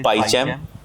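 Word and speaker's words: PyCharm: the popular software इ पाचम ठीक है पी वाई सी एच ए आर एम R silent रहता है जनरली हम लोग पाचम बोलते हैं तो पाइ चम एप्लीकेशन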